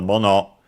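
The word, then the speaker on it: 物: We have seen the fundamental mono accented on the second, on the last syllable, means thing as in object.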